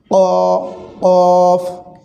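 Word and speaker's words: ق: করি বোঝা যাবে ইনশাআল্লাহ এই হরফটি একটু ধাক্কা দিয়ে উচ্চারণ করা লাগে অর্থাৎ যেটাকে তাসবিদের ভাষায় কলকলা বলে এই হরফটিকে ধাক্কা দিয়ে উচ্চারণ করতে হয় বলতে কফ জিহ্বার গোড়া তার বরাবর উপরে তালুর সঙ্গে লাগায় এই হরফটি উচ্চারণিত হয় কফ কফ এরপরে যে হরফটি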